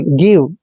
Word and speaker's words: GIVE: दोस्तों यहाँ पर आपको मैं बता दूं, जब भी जी के बाद आई आता है तो जी का उच्चारण हम गे करते हैं। कई बार इसको जो बिगिनर होता है उसको जी ही पढ़ लेता है, जो कि गलत है। तो जी का उच्चारण हमने गे करना है और आई को ई की मात्रा पढ़ना है। वी का उच्चारण दोस्तों हम वह करेंगे, गिव।